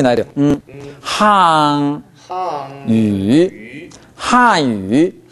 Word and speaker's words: 汉语: 왜 이렇게 발음하냐면 한语 하면 하 류로 중국인은 알아들어요. 그러니까 N 발음이 가장 음절이 마지막에 오고 그 다음 발음이 첫 음절이 모음이 되면 N 발음은 비음으로만 존재합니다. 한유 해보세요.